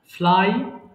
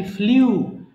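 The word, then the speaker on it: flew: ফ্লাই, উড়ানো, ফ্লাই, ফ্লু, ফ্লোন। মাঝখানে এটা সারা জীবন আমরা বলে আসছি ফ্লিউ, বাট ফ্লিউটা ভুল, এটার correct pronunciation should be ফ্লু।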